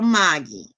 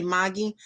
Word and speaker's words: Margie: a-u-s-s-i-e i see girl maggie and i'm loving her and i know i say maggie because she's australian and you pronounce her name maggie but it's spelled margie like so i'm like